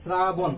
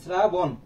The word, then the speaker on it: শ্রাবণ: শ্রাবণ আমরা যখন উচ্চারণ করছি শ্রাছ এর মত উচ্চারণ হচ্ছে তাহলে এখানে দন্তস থাকবে এখানে সঠিক উত্তর হবে কি শ্রাবণ কি হবে শ্রাবণ এই জিল্লু পেট দে এটা আমি হচ্ছে জাস্ট